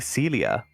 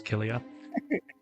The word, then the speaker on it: cilia: I was trying to look at that and trying to pronounce that, and all I was coming was Kilia. Cilia.